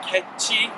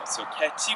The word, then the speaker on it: catch: " 카치 " 라고 발음 하지 말고 그냥 " 캐치 " 라고 발음 해 보세요 .